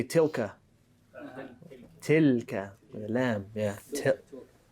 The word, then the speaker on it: تلك: تلك. And make sure you make it an Arabic lam, not an English lam. You want to say تلك.